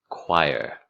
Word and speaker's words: choir: CH makes a qu sound in choir.